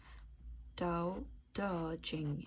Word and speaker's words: Tao Te Ching: Tao Te Ching, pronounced Dao De Jing, is the way of life defined by many ancient sages who lived in China centuries ago.